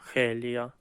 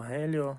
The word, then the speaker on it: Геліо: коміксі вже з'являється Геліо хелія хелія в коміксах хелія назвали хоча дивно тому що х це читається як г і правильно Геліо Ну окей ось лелов